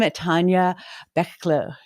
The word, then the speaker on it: Tanja Bachle: Welcome, Tanja Bachle.